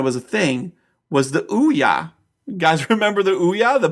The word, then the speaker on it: Ouya: get you the here how do I spell it o o u y a it's pronounced Ouya is a video game